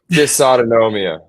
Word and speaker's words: dysautonomia: disomus uh that's Place dis autonomia dis autonomia okay okay the pronunciation is familial disautonomia I hesitate just to